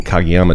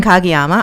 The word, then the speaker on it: Kagiyama: and we'll throw it over to uh kagiyama tell us a bit about you am I